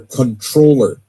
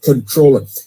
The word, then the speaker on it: comptroller: New York City, he's running for controller. It's spelled comptroller, but controller.